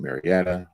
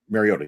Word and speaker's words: Mariota: as it used to be new quarterback in Marietta omariato whatever you say his name um Mariota thank you very much sorry I'm trying to